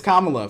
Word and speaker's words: Kamala: election, of course, with Kamala Harris. And it is Kamala, for those who keep saying her name wrong.